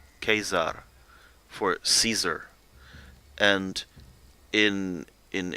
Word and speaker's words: Caesar: keep in mind that classical Latin like that in most of the texts we have that were in Latin were pronounced a lot more like Italian you can see that a little bit in for example the the church like if you at school learn Latin you would say Kaiser Kaiser for Cesar and